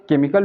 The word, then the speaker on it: chemical: यानी कि CHE के बाद क्या आ रहा है M आ जा रहा है, इसलिए हम CH को यहाँ पर क्या पढ़ रहे हैं क पढ़ रहे हैं।